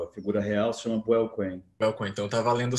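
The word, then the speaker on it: Buell Quain: Como que se pronuncia o nome do protagonista? É Buell Cohen? É Bill Cohen?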